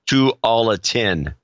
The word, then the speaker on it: Tualatin: Pronounced Tualatin.